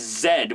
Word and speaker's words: Z: Although, in other countries, I'm aware that Z is actually pronounced as Zed, with like Lord Zed from Mighty Morphin Power Rangers, so that sounds even cooler.